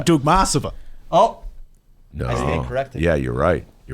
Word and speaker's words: Dukmasova: I believe the correct Russian pronunciation would be Dukmasova. Yes, Dukmasova. It's actually Dukmasova.